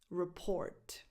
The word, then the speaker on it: report: Report. In this word, the stress goes on the second syllable again. Report. Report. So the first vowel is a schwa. It has no definition.